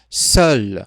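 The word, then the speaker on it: seule: Se fosse uma mulher, seria seul, ou seja, a mesma pronúncia, no entanto, a gente adiciona aí a vogalzinha E no final dessa palavra seul.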